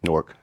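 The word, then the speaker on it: Newark: norc n how so how do you say it if you're from newor just like Fork but norc norc yeah we say it wrong local so it's not New York it is New York but how you say it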